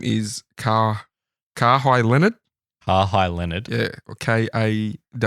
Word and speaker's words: Kawhi Leonard: His name is Kawhi Leonard. Kawhi Leonard. Yeah, or Kawhi. How do you want to pronounce that? Kawhi. Mm-hmm. Kawhi Leonard.